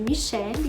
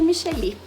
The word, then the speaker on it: Michelly: Muitas pessoas me chamam de Michele mesmo, mas eu prefiro que me chamem de Micheli, né? Eu acabei aprendendo essa pronúncia com um professor na faculdade, eu gostei e acabo usando.